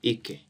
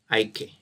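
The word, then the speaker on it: IKE: I normally call it EK. IK.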